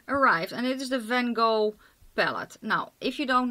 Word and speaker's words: Van Gogh: And it is the Van Gogh palette. Now, if you don't know, Van Gogh was a Dutch painter. So let me pronounce it in Dutch. Just for funsies. We say Van Gogh.